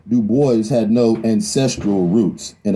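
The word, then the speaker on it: Du Bois: david levering lewis w.e.b dubois yes he always insisted on that pronunciation uh he did not like the gaelic pronunciation though in his antecedence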